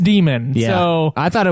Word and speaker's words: daemon: It's just an old spelling of demon and it's pronounced demon.